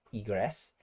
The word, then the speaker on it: egress: Kalau bahasa Indonesianya egress ya. Sebenarnya bahasa Inggrisnya bacanya egress.